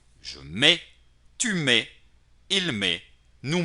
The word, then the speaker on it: mets: Notarán que aquí hay una T entre paréntesis. ¿Por qué la escribí? La escribí porque la tendrán que escribir tarde o temprano. Porque la puse entre paréntesis, porque no la van a pronunciar.